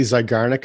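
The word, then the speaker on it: Zeigarnik: Am I pronouncing that correctly? Zygarnic Effect?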